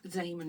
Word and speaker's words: Zeeman: It's spelled Zeeman, Zeeman, or Zeeman is how you pronounce it.